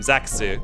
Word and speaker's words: Zack: insisted that Zack, because his name in Japanese is Zaxu. That's his name, Zaxu. So he insisted that his name was supposed to be Zax.